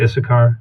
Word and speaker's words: Issachar: Uh, so there's Dan, Naftali, Gad, Asher, uh, Isakar, Isakar. I don't know. How do you say that? Uh, usually English speakers say Issachar.